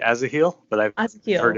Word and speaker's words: Asahiel: Am I pronouncing that correctly? Yeah. I say Azaheel, but I've heard Asahiel.